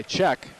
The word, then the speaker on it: Czech: the Duluth net by Czech. What a great name for a defenseman, Czech. However, it is spelled C-Z-E-C-H.